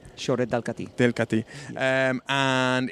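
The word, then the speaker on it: Xorret de Catí: Fran, I will go to you for the perfect pronunciation. It's the Soret de Cati, del Cati. Yeah. Soret del Cati.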